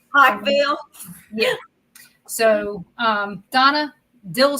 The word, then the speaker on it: Pikeville: say it right either I didn't say Pikeville right Pikeville yeah I said it with two syllables Pikeville yeah so um Donna